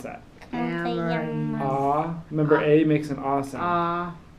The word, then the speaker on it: amarillo: Oh, So when we say como te llamas, what's a llama? so it's a y sound. It's Yeah. a Y sound. So how would you pronounce that? Amarillo.